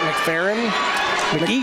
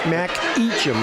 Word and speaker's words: McEachin: On that too, Bowman of Nelman GET and Jack, is that McFerrin? McEachin. That's an E in there. Ah, yes it is. Eacham. Mac Eacham is how I would pronounce it.